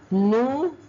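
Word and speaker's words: nous allons: do I pronounce this split the S newal we are going V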